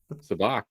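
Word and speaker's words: Sabacc: Isn't it Sabak? Sabak, yeah.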